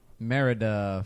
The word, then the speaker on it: Merida: I need you to say her name correctly Merida from brave Louise breathe and then she turned